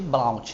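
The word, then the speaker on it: Blount: é uma síndrome chamada síndrome de blaut escreve blaut né C esse T é mudo mas mas é a forma de escrever eh ela quando você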